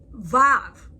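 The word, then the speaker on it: וו: Vav. Vav can be a V, O, or U. Vav can be pronounced like a V in victory, the O in home, the U sound in U.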